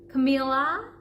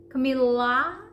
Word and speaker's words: Camila: because this is where most people would say Camilla Camila and the problem is in the L we would say camaa Camilla very I would call it dry L Camila cam okay Camila